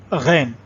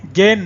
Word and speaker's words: غین: تو اس کو غین پڑھیں، گین نہیں پڑھیں گے. جیسے گائے ہوتا ہے تو گائے کا الگ تلفظ ہوتا ہے، اور جو یہ غین ہے اس کا الگ ہوتا ہے.